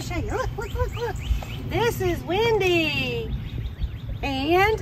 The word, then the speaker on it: Wyndi: This is Wyndi. And it's spelled W-Y-N-D-I for Tinkerbell's Wyndi.